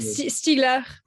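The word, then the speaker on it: Stiegler: um how do you pronounce that sorry cardio pronounced the last name of this florida i'm not a stealer s-t-i-e-g-l-e-r okay okay he was amazing the kind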